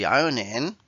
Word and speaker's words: ironing: Do the ironing, ironing que sería el planchar. Y ya que nos ponemos, repasamos el tema de la pronunciación. Esta R como si no estuviera.